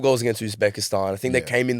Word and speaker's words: Uzbekistan: Uzbekistan. Uzbekistan.